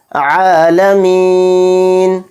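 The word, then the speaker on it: الْعَالَمِين: र को मोटा पढ़ेंगे आलमीन आईन पर खड़ा जबर है आईन को एक अलिफ की मकद हम खींच कर पढ़ेंगे फिर इसी तरह से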